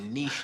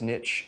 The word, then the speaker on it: niche: reach our customers through Niche targeting not bad new guy but it's niche not Niche no it's niche the C is silent you don't fit into a niche you fit into a